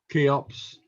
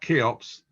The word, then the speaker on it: CHEOPS: didn't mention anything about keops i think that's the way to pronounce it not cheops keops i believe and i'll leave it